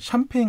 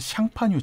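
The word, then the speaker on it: Champagne: 예 그리고 대표를 이제 샴페인 같은 것들도 수레며 프랑스의 샹파뉴 지방 음 인데 이걸 영어 식으로 발음하면 샴페인 이거든요 그것도 원래는 상판 ui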